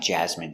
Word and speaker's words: jasmine: Jasmine I don't like jasmine tea it's not my favorite Jasmine pronunciation Jasmine j a j z jazz jazz m jasm jasm jasm n Jasmine Jasmine stress the first syllable Jasmine Jasmine is a